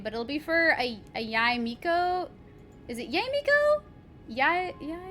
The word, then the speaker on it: Yae Miko: Yae Miko. Okay. Thank you, Grace. Because I'm like, I want to know how to pronounce it properly, but then I always feel bad because I forget.